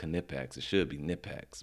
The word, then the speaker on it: Knipex: some canipex and wow and yes it is pronounced knit packs it should be knit packs but it's knipex